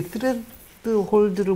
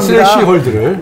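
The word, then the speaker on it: threshold: 스레드 홀드를 못 넘었네요. 썰렁합니다. 스레시 홀드를. 네, 스레시 홀드. 스레드 홀드는 아니고.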